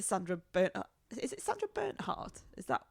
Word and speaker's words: Bernhard: Is it Sandra Bernhardt?